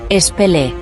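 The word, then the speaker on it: פלא: aunque se asemejan bastante, no se pronuncian iguales, puesto que la utilizada en el libro de Jueces es Peli, que significa secreto, y la utilizada en Isaías Pelé, que significa maravilloso.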